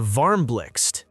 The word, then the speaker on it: VARMBLIXT: The VARMBLIXT, yes, that's how you pronounce it, is IKEA's donut-shaped lamp designed in collaboration with Dutch designer Sabine Marcelis.